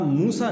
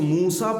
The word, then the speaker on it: موسیٰ: سین اور یا، اور اس کو موسیٰ پڑھتے ہیں، موسی نہیں پڑھتے، یعنی اس کی یا کا تلفظ نہیں ہوتا، یا کے بجائے الف کا تلفظ ہوتا ہے۔ لیکن اب اس کا